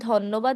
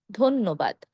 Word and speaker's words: ধন্যবাদ: একইভাবে ধন্যবাদ না বলে বলবো ধন্যবাদ।